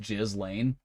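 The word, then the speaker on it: Ghislaine: You're saying her name wrong. It's pronounced Jiz Lane. Oh, my bad. Jizzlane Max.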